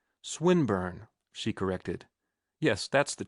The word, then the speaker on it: Swinburne: swatted meant this man swine burn he began attempting to put his plan into execution and pronouncing the eye long who swine burn he repeated with the same mispronunciation the poet swinburne she corrected yes that's